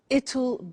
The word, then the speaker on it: it'll: I said tomorrow it'll be cold. You notice how it will becomes it'll.